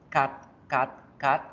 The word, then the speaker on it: cat: Gato se pronuncia con este simbolito raro que tenemos acá. Fíjense en el diccionario, vamos para el diccionario, escribamos la palabra gato y fíjense que la palabra gato, su pronunciación es esta. Cat, cat, cat. Practíquenla ya en casa. Cat, cat, cat. ¿Sí? Cat, con la A torcida.